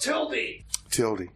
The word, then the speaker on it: Tilde: Tilde. Tilde. TILDE is how it's spelled. Yeah. Rebar, I think that's pronounced Tildy. Tildy.